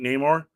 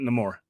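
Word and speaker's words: Namor: says it no more I grew up calling it Neymar but he in the movie he pronounces it no more and that that's that's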